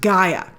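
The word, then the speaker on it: G'iah: is all growns up and her name is pronounced Gaia and uh she is she has some relationship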